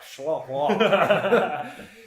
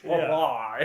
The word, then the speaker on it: Schlafly: Schlafly. It's easier to say if you just kind of like slur it. Schlafly.